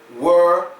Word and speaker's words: we're: they get confused well let let me tell you how they're pronounced it's where were and we they are all